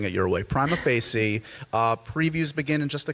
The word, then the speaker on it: prima facie: I say prima facie.